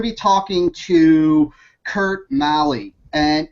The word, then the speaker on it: Maly: to kurt Malley and is that my pronouncing your last name right Kurt Marley hardly anyone pronounces that right you gotta get on thank you sir I appreciate that very much so you got it so what we're going